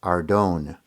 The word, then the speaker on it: Arden: although i should add in israel they pronounce it ardone duane was originally chosen